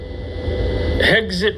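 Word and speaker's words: Hegseth: All these guys, this guy, Hexit rhymes with exit.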